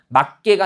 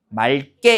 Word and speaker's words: 맑게: 그러면 맞게가 아니라 어떻게 맑게 이렇게 발음이 되는 겁니다.